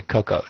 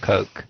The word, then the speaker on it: cocoa: hot drink Coke Coke Coco Coco yeah Coco not Coke how do you spell